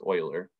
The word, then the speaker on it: Euler: Imaginary number is not fully accepted as a useful mathematical concept until Leonard Euler, it looks like it's pronounced Euler, but it's actually pronounced Euler, and Carl Friedrich Gauss added their own contributions.